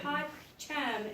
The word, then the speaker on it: pacem: Pacem is peace. But it's 2 syllables in Latin.